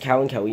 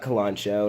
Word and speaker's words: Kalanchoe: the cow Howie they her Ensis and yes pronounced Cowan Kelly not Kalon show not kalanchoe not colano or anything like that and this